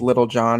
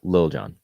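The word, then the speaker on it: Lil Jon: I'm pretty sure it's pronounced Lil John. I'm sorry to any Little John listeners out there. I'm You sorry. said it again. It's Lil.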